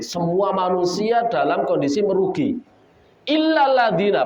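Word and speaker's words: إلا الذين: Illal ladzina. Pakai tasdid atau tidak? Pakai. Kecuali orang yang enggak merugi itu orang yang beriman. Antum bacanya enggak pakai tasdid.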